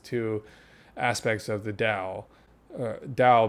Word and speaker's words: Tao: Tao being the T-A-O, Tao, but I think you pronounce it with a D.